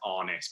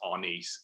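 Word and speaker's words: Arnis: dan would be using that um and then our nice uh which which i might may sometimes say is honest but apparently should be pronounced on ease is what's most widely used in the philippines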